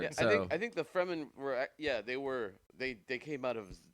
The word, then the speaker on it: Fremen: Why do you think they're called Fremen? It rhymes with. Kind of sounds like semen. If you just take off the FR and put the S.